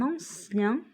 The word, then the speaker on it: ancien: C'est pas E-I-N, c'est I-E-N. Donc, on prononce ien. C'est comme le mot pharmacien.